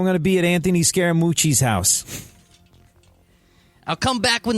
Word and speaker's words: Scaramucci: I was going to ask you how to pronounce that because that's a scary last name. He's from. It's so Anthony Scaramucci sounds like so many kids I knew from Long Island.